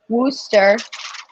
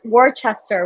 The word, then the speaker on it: Worcester: that's true they they actually the city worcester wooster in uh wooster in but in massachusetts it's pronounced rooster that was always like worchester we're going to warchest and we're like no